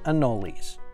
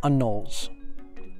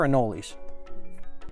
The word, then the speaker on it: anoles: In Florida, everyone has called them anoles, with three syllables. Other people call them anoles. We're in Florida. They're anoles.